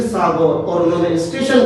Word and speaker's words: सागर: आज भी रेलवे की टिकट में वही स्पेलिंग, वो चेंज नहीं की गई है। उनको उससे याद रखा जाए और जुड़ा जाए, इसलिए उसको सागौर ही लिखते हैं, नंबर पढ़ते सागर है।